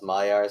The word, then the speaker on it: Magyar: Yes, it's spelled Magyar, but it's pronounced Mayar, so I keep pronouncing it like that.